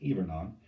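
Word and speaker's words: hivernant: even on looks like it's spelled hibernate it's pronounced ebernon and even i was someone who signed a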